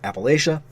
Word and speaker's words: Appalachia: the game in videos say it differently it's pronounced Appalachia it is in reference to the Appalachian Mountains